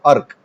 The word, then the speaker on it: अर्क: ठीक है, अर्क। अब आप समझ रहे होंगे कि उच्चारण करते समय आपको समझ में आ रहा है कि हाँ, इसको अर्क पूरा नहीं बोले, र ऐसे बोल रहे हैं, अर्क।